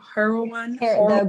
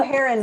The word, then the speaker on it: heron: Am I pronouncing that right? Yeah. Heroin? The blue heron rookery.